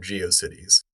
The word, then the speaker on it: GeoCities: Yeah, I've I've been I've been uh thoroughly shamed in my in my pronunciation of geiosities. So, um so I've I I've come around to saying it's Geio Cities.